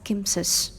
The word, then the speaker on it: CMSIS: ARM has looked to further this approach by publishing Cortex Microcontroller Software Interface Standard CMSIS, which we pronounce it as KIMSIS.